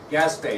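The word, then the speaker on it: Gaspee: name of his ship gasps BAE now it's not spelled like it sounds so make sure you get that right okay Maria who was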